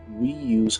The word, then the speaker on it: Weeoo: Yes, it's pronounced Weeoo as in Nintendo Wii U.